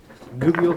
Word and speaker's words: Goodle: Goodle, is that how you pronounce that?